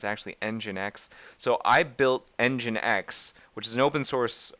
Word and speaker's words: nginx: run an nginx server I actually used to pronounce this n Jinx for the longest time it's actually nginx so I built engine X which is an open source um a sort